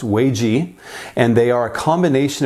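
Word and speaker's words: 危机: She told us that there are two Chinese characters that when combined are pronounced Wei Ji, and they are a combination of characters that represent the words crisis or danger and opportunity.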